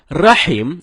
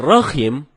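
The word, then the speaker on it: رَحِيم: Rohim ini merubah makna rahim artinya yang maha penyayang sedangkan Rohim artinya Maha merdu bacaan yang benarnya Insyaallah dengan huruf ha ha dalam tenggorokan jadinya rahim bukan roh Hai kalau teman-teman bacanya rokim itu dapat merubah makna atau arti dari ayat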